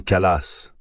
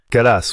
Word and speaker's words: Kallas: Et vous avez parlé de Madame Kallas. C'est bien ainsi qu'on prononce son nom. Kallas, oui, je crois.